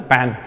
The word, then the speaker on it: pan: तो ये प्रोनाउंसिएशन आप समझें कि एक होता है पेन, कैसे किया आप रिपीट करें मेरे साथ, पेन, पेन, I need a पेन, I need a पेन। और एक होता है पैन, पैन, पैन।